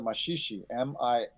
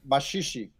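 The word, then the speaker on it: Maxixe: That song doesn't sound like the samba of today, though, because it sounds a lot like the machixe, Maxie, which was an earlier urban style of music and dance that mixed European and African elements from Brazil.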